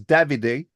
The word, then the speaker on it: Davide: it's Italian, so it's Davide. Davide. Uh, Okay. it's the Italian version of David, of course, but yeah, Speaking of that's how we him, pronounce it.